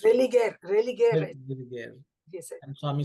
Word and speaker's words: religare: I don't know how it's pronounced. Religare.